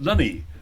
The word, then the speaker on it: Luney: Luney. Okay. Luney, like Looney Tunes.